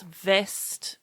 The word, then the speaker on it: vest: That's vest with a V.